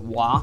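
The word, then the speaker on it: は: of a sentence is in japanese um you have to put a you have to put wah after it which isn't what in hiragana it's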